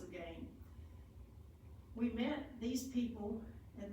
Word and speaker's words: Lurgan: It's l u r g a n, but pronounced again.